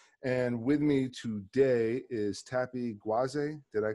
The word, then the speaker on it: Tapi Gwaze: And with me today is Tappy GWAZE. Did I pronounce it?